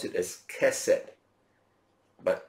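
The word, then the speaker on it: chesed: you the word huh we pronounce it as cassette but it's spelled c h e s e d cassette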